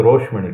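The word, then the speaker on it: রাসমণি: अब ये रासमणि नाम तो उसका रासमणि था, लेकिन आप देखेंगे इसको बंगाली प्रोनाउंसिएशन करे तो रसगुल्ला को हम रोशोगुल्ला बोलते हैं। हाँ। इसलिए रासमणि को आप गूगल में सर्च करेंगे तो रोशमणि करके मिलेगा। अच्छा। कारण बंगाली प्रोनाउंसिएशन में वो रोशमणि हो गया।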